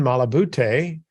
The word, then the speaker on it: Malabute: with us today and his name is malaboute I hope I pronounced your last name correctly you did